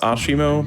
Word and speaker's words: ASIMO: It's pronounced Ashimo because it's Japanese, and it means also legs.